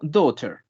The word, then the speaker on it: daughter: sería grant daughter y recuerden que la palabra hija se escribe de esta manera pero solamente se lee como daughter daughter el serial a la